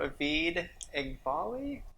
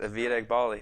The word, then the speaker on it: Avid Eghbali: So you are Avid Eghbali? Yeah. Am I pronouncing that? That is correct. Avid Eghbali.